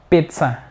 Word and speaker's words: pizza: fuerte sílaba débil pizza pizza es con t s pizza mucha gente s pizza algunos deseen pizza como concept a pizza y no es pizza con z es simplemente ts yo a pizza pizza